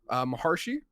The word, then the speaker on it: Maharshi: I can barely pronounce the title. Maharshi is, I believe, Oh, perfect.